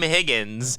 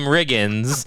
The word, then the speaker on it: Riggins: come out here and you say Tim Higgins instead of saying Tim Riggins, and you mess up the entire take by mispronouncing the star of the Dillon Panthers football.